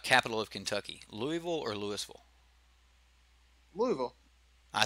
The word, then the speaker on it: Louisville: How do you pronounce the capital of Kentucky? Louisville or Louisville?